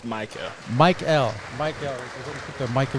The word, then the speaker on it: Michael: Is it Mikel? It's Michael.